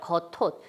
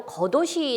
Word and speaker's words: 겉옷: 여는 버치 그냥 어 그냥 연음 된다고 생각했다면 겉옷이 되겠죠 거 톳 그렇지만 예 겉옷이 되지 않고 거 도시 라고 발음해야 되는 이유는 옷이 형식 형태소